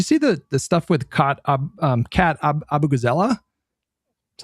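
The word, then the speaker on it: Abughazaleh: I mean, speaking of unconventional candidates, did you see the stuff with Kat Abugazela? That's how you pronounce it.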